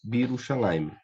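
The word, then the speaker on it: בירושלים: Então, eu teria aqui Bi Yerushalayim, torna-se mais simples Birushalayim, que é uma tendência aí de toda a língua, sempre se tornar mais célere, mais simples, né?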